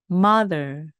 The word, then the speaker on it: mother: 이것은 강세가 앞에 오기 때문에 이오에 오기 때문에 mother mother 마더 하시면 안 되고요이 발음에 해당하는 것들은 생략하시면 안 돼 입니다 그래서